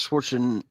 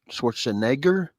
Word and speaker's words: Schwarzenegger: He says Schwarzen. I'm gonna say it right. Schwarzenegger.